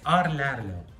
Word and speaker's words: Rlaarlo: It's Rlaarlo.